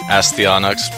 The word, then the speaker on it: Astyanax: yeah this is well some people probably called Asti onyx which is the correct pronunciation but I'll just refer to it as a Stein axe and you might have